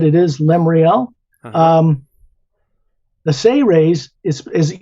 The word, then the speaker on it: Seres: is lemreal um the say raise is is you pronounce it as if it was spelled s-a-y hyphen r-a-y-s say race but it's s-e-r-e-s and